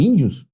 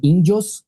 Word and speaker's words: índios: O erro tá aqui, ó. Ela não é trissílaba, tá? A palavra índios, tá vendo?